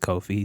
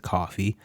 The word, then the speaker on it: Ko-fi: That's how I pronounce it, Ko-fi. Some pronounce it coffee, tomato, tomato.